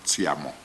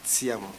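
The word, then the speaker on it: Tshiamo: Oh, and you pronounce it Tsiamo. Tsiamo, correct.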